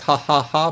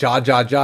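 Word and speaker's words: jaja: In English, you pronounce that ja ja. And you're like, why is that laughter? You're like, that don't sound like a laugh. J. But in Spanish, J sound like H.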